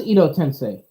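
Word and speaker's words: Edo Tensei: just that that guy that prefers the Japanese pronunciation it was Ido tensei you know tensei yeah yeah I'm tripping when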